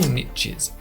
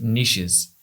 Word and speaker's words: niches: In this video, I'm going to run through 10 profitable niches for AI automation agencies. Also, that's niches or niches, whichever pronunciation you prefer.